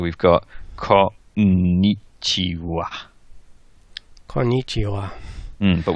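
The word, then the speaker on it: こんにちは: got caught Nietzsche wha konnichiwa mmm but when typing it you've got to keep in your mind that it's written ha okie dokie so I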